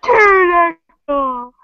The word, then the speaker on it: pterodactyl: Pterodactyl. Yeah, my friend plays that game like all the time. I hate that it has a silent P in it.